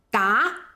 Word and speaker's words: 打: 第一个音打，打这个音只有一个用法，它是个量词，表示 12 个。